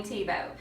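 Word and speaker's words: Thiebaud: one of my top three favorite artists Wayne tebow you don't know about when tebow search for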